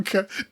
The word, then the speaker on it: cocoa: cocoa. No, But it's cocoa. C-O-C... It's C-O-C-O-A. But it's pronounced cocoa.